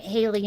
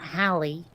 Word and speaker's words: Haley: And yes, we're pronouncing it Haley, not Hallie.